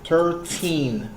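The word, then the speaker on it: thirteen: Now, for the teens, you need to stress out on the last syllable. Like it says 13.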